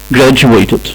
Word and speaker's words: graduate: ولما استخدمناها كاسم اتنطقت graduate، اللي هو الفرق هنا في الصوت المتحرك اللي موجود قبل التي. هنا في graduate صوت قصير، وفي الفعل graduate صوت اطول شوية.